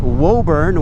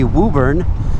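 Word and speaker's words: Woburn: So you got to know you got wobburn which is actually Wuburn.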